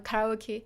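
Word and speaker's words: カラオケ: to um You Know Karaoke or in Japanese it's actually karaoke but if you do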